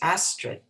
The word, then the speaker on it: Astrid: film um johanna her her character's name is astrid and so as astrid but they pronounce it with like an our roll of the tongue and so there were